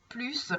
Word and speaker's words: plus: est ici c'est important le s du plus ne se prononce pas d'accord donc on dira